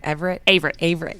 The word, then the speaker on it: Averett: Averett, yep.